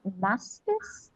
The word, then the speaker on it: mastitis: It's called mastitis.